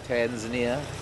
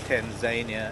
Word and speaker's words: Tanzania: reserve in East Africa it's Tanzania not Tanzania as a lot of South Africans may sound it pronounce it um the refugi river